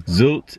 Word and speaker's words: Sylt: population here is 21,000 pronounced sults out sort of been saying it wrong zilch is a 25 mile